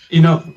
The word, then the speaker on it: INNOD: inot por de pronto Cómo se pronuncia Porque si hay una Dn será como In inod Da mismo inod así como Innovación perfecto Eh bueno in